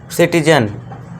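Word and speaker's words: citizen: सिटीजन सी आई टी आई जेड ई एन अब यहां देखिए सी का जो उच्चारण है यानी कि प्रोनंसिएशन है यहां पे क्या हो गया है ये सा का दे रहा है और अभी मैं एक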